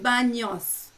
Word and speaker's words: baños: Spanish we have a letter called ñ, which is the N with a little thing on the top, and the pronunciation is with like ño. No. So it's baños. That sound you don't have that in English, so it's sometimes hard to pronounce.